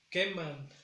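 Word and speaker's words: quemman: Queman. Esta recae el sonido más fuerte en la segunda sílaba.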